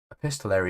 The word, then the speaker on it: epistolary: Epistolary. A pisttolary is how it's pronounced.